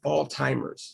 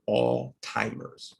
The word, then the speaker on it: Alzheimer's: so this is pronounced all timers so we don't this is it has a zh here but it's really not you don't really say zh you really say t so it's like all timers all timers it sounds